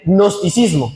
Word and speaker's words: gnosticismo: melcoche ahí, era el gnosticismo. Si usted quiere escribirlo, yo tampoco lo entendí la primera, me tocó leerlo para saber cómo se escribía, pero se escribe como gnomo, G-N-O-S-T-I-C, ¿cierto?